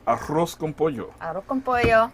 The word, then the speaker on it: arroz: So, we're doing a Puerto Rican dish today called Arroz con Pollo. Arroz con pollo. Tailored to lunch We don't break. pronounce the Z in Puerto Rico. We say arroz. Not arroz, okay? That's that Dominican stuff.